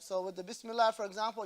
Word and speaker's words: Bismillah: right so with the Bismillah for example you don't say this you gotta roll the r you gotta put emphasis on the land Bismillah that's their